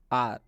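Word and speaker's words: hour: सबसे पहले लिखा गया है आर। आर का मतलब होता है घंटा। आप इसमें देख सकते हैं एस के बाद से ओ आया हुआ है। इसलिए इस एच का उच्चारण हम लोग नहीं करेंगे। मतलब एच को नहीं पढ़ेंगे और यहां पे स्पष्ट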